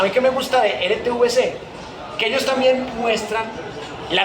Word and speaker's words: RTVC: pronuncia mal, o sea, todo el mundo dices que RTBC, o sea, confundiendo la B con la V. RTVC, o sea, ellos hablan